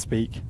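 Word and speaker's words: Speke: And Tom Allen saying, it's pronounced Speak, officially known as John Lennon Airport.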